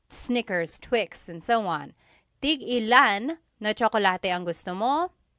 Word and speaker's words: tig-ilan: Tig-ilan is a homonym, meaning it can have different translations depending on how it's pronounced. So tig-ilan, when there's a hyphen in it, you have to have that glottal stop.